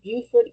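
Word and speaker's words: Beaufort: I know there's Buford County in South Carolina and then there's Bowford County in North Carolina. So in North Carolina they pronounce it Bowford spelled the same way but you know anyway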